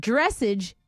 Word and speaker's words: dressage: look like message but the word dressage is pronounced like massage so yes you're right